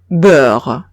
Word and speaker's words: beurre: Ejemplo, beurre.